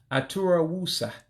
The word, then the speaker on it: Aturawusa: You have to drop one of the vowels in order to make two words into one. So it would be pronounced Aturawusa.